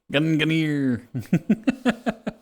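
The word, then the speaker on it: Gungnir: is slept near and his spear is Ganer Ganer nice toxic we'll have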